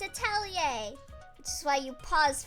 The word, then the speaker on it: atelier: I think ateliers are generally a place of creating things, yeah. Yeah, you're very confident about the pronunciation. I am. It's atelier.